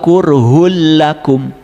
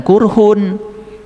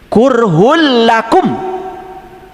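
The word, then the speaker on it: كُرْهٌ لَّكُمْ: Wahua qurhul lakum. Hmm. Awas jangan qurhun. Karena apa? Domah dua menghadapi lam itu idgam pilaguna. H kurhul lakum gitu.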